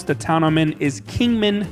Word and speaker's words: Kingman: All right, so first off, the correct way to pronounce the town I'm in is Kingman, not Kingsman.